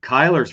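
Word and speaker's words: Cuyler: not playing so Kiki is that how you pronounce it Kyler nah Kyler's right but the the first name I always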